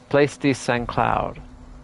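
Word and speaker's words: Saint-Cloud: Lieutenant Colonel Debbachman, second in command of the place secloud. I don't think you pronounce this T in French stuff.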